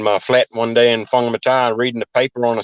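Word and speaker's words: Whangamatā: But New Zealand, you're from a place called Whangamata. Is that That's how you correct.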